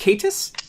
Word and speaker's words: K8s: Oh, is it pronounced K8s? Yes, That was does. K8s. Like Kate's.